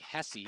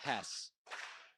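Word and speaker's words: Hesse: And then spelled like Hessie. It's actually Hess.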